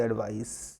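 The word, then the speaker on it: advice: Pronunciation में भी थोड़ी सी अंतर होती है ना, ये एडवाइज, ये एडवाइस, ठीक है, ध्यान रखिएगा।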